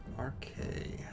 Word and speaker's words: Arkae: Her name is RK, Okay. and she is a gnomish artificer. Oh. RK. It's spelled ARKAE.